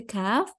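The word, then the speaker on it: ك: And when we pronounce the letter Kaf, the back of our tongue is not going to be lifted upwards, but it's going to be like still. It's not going to be lifting upwards.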